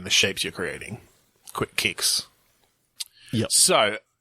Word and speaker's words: Qix: I mean, all I'm thinking of is the game Quicks. Quicks? What is that? So search for QIX. Oh, I remember that. Apparently it's pronounced kicks.